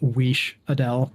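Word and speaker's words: Wiš'adel: Unless you compare them to Wizdell? Wizdell, is that a character in... It's technically pronounced Weesh Adele, but yes, it is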